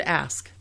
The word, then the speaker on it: ask: The word ask. It's spelled A-S-K. It's not A-K-S.